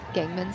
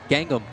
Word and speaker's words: Gangnam: Gangman style? Gangnam. Gangnam? Gangnam, yeah. Gangnam. I think that's what it is. I think I heard it too. Kind of got stuck in my head. I believe Gangnam style came out in 2015.